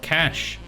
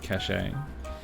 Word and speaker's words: cache: Merriam-Webster says a cache is a group of things that are hidden and pronounced like cache. Cachet can mean prestige, medicine to be swallowed, or an official seal, and is pronounced cachet.